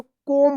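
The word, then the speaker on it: comb: तो क्या पढ़ेंगे इसको कोम पढ़ेंगे आप इसको कॉम्ब मत पढ़िएगा कॉम्ब मत पढ़िएगा क्या पढ़ेंगे इसको कोम पढ़ेंगे यहां पे क्या है बी साइलेंट बी का उच्चारण नहीं होगा बी ओ एम बी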